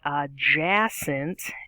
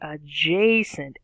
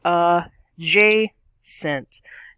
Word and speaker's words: adjacent: makes a long sound so it's not a jason it's adjacent a okay and then the uh symbol here the little slash that's an accent mark that means that the third syllable gets the stress so we say uh j sent not uh jason or aj sent it's uh j sent we got the stress on the middle syllable now that being said